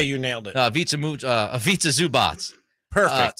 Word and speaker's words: Ivica Zubac: Ivica Zubac. Butchered that name. I do a better name. I think usually you do a nailed better it. job. I'm going to say you nailed it. Ivica Zubac.